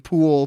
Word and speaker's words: Poole: The E is silent. Yeah. So. like the name. Pool, POOLE.